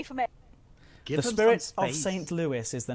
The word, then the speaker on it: St. Louis: The Spirit of St. Louis, or St. Louis, as it's pronounced, but I liked it as Lewis because that's my name, Lewis.